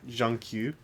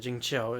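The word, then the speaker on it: Jingqiu: So, like, last night I got Zhang Q. You got Jing Qiu is how it's actually pronounced. I'm a moron. Yeah, I am too. I like Jing Qiu better.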